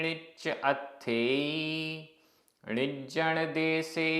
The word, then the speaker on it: णिच्च: णिच्च आधा च पूरा च।